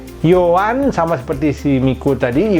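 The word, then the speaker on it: Yohan: Euro 2012 ini bacanya bukan bukan Zoa sama sekali bukan Zoya dia dibacanya Yoan nah kemudian belakangnya miku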